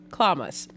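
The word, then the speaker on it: chlamys: word for today clamas spelled c-h-l-e-m-y-s pronounced klamas if clowns is new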